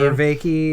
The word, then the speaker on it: Vervaeke: So this is where Jonathan Vervaeke, is that how you pronounce his last name? Vervaeke.